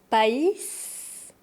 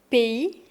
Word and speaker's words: pays: P I le S est mué et le A plus le Y forme le son E P.